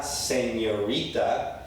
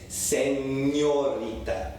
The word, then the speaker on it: señorita: It's not señorita, it's señorita. The N makes that ñ sound.